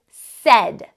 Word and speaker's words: said: in the word said we know that said sounds like s e d said but that vowel sound in the middle that e sound is actually spelled with the letters a i well that's really weird